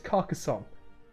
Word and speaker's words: Carcassonne: casanova car carson noah i think it's carcassonne that's what it is in french apologies for the